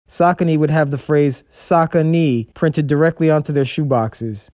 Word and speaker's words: Saucony: pronouncing the name and most people called it sakani so to teach their customers the correct pronunciation saucony would have the phrase sakanee printed directly onto their shoeboxes they were known